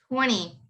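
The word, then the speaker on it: twenty: has a n uh there's a t after the n so you don't pronounce the t you would just say 20.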